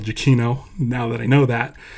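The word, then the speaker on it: Giacchino: pronounce Michael's name uh it's Michael jakino now that I know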